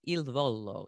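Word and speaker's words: Il Volo: also a vocal coach for the italian trio ildvolo is that how we pronounce it yes yes wow oh my gosh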